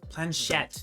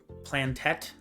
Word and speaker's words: planchette: Planchette. That's how you pronounce it, Penguin. Planchette. I kept on pronouncing it how wrong, are- and I was like, But I have no idea. I mean, you are How are- Canadian. How were you saying it? I'm so curious. no, I was like, I know I'm saying it wrong because I couldn't remember how to pronounce it. I was saying it plantette, I think.